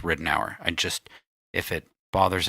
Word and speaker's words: Ridenour: about Michael Ridenhour and we're going with Ridenhour because we've been trying to figure out how to pronounce the last name we thought we found it and we thought it was right an hour and then a national TV show set Ridenhour so we're gonna go with Ridenhour i just if